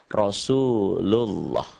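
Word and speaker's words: رسول الله: yang kayak gini nih Pokoknya kalau sebelum lafaz Allah ini ada huruf yang berbaris di atas dibacanya menjadi taglid atau tafkhim atau tebal Rasul ull ah bukan Rasulullah Rasulullah atau yang ini Rahmatullah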